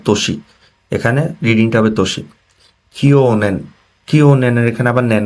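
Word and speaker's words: 去年: তো কিওনেন হচ্ছে এটা সবচেয়ে ইম্পর্টেন্ট ওয়ার্ড।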